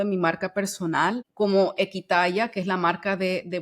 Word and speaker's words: Equitaya: mano, por supuesto, y se escribe Ekwitaya, que de hecho significa Equi, volver al origen, y Tayá es yo en lengua indígena.